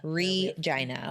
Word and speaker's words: Regina: rejoin the Saskatchewan Canada Regina okay vagina yes however the rock radio